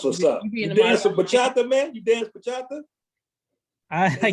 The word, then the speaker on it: bachata: You dance some bachata, man? You dance bachata? I can. Am I pronouncing it right? Bachata? Is that how you pronounce it? Yeah, yes, sir.